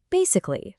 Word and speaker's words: basically: That extra A is absolutely crucial, and it makes all the difference in pronunciation. And this gives us words like basically, tragically, and economically. You can really hear that extra syllable in there, right?